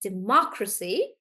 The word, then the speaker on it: democracy: okay so guys um in democracy we are stressing on more and that's why we say it like democracy democracy not democracy democracy like that um iush